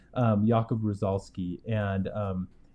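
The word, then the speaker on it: Jakub Różalski: of a World created by an artist named yob rolski U rosoli sorry I said his last name wrong um yakob rosoli and um it's called the 1920s world and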